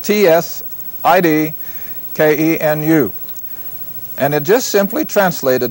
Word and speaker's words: Tsidkenu: Now, in the Hebrew, this is Jehovah Tsidkenu. And that's spelled T-S-I-D-K-E-N-U.